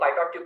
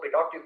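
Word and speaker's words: pitot tube: ठीक है, बहुत लोग पाइटॉट ट्यूब करते हैं, बहुत लोग पिटॉट ट्यूब करते हैं, आप जैसा चाहे वैसा प्रोनाउंस करिए, कोई दिक्कत की बात नहीं है।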